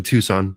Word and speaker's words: Tucson: So this is, it's actually Tucson, just by the way. Oh, yes, you pronounce it Tucson, because I've heard people say Tucson, but the C is silent.